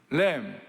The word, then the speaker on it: lamb: LAM, lamb, 어린 양, LAMB, B is 묵음, 똑같아요, 발음이.